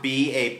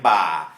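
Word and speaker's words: บ่า: For example, if I say ba with a soft B, a maai, ba, that means shoulder, ba.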